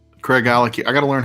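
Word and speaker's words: Craigellachie: 23y year for 200 think of CRA Craig and his Ellen key like Glenn and his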